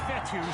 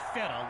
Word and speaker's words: Fetu: up and not so coach fettuck spelled fetu for the longest time i was pronouncing it coach feda like feta cheese so let's just say